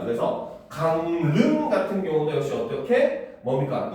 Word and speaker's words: 강릉: 자, 받침 미음 이음 뒤에 연결되는 리을은 니은으로 발음을 합니다. 그래서 강릉 같은 경우도 역시 어떻게 뭡니까?